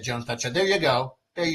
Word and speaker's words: Jones.show: So, but it's pronounced Jones dot show, but it's actually like the same as that.